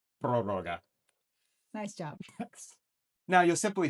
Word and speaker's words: prórroga: I can't pronounce this word, so here we have Darcy. You call it prórroga. Prorroga.